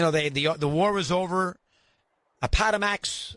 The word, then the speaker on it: Appomattox: Appomattox, I think I pronounced it right. Appomattox, that's correct.